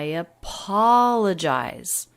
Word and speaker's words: apologize: i apologize i apologize a five-syllable thought group i appall and the middle syllable the third syllable is the most stressed i apologize but the intonation is